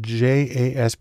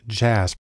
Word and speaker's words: JASP: open source community has developed a program called jasb it's actually pronounced jasp which is sort of an open source version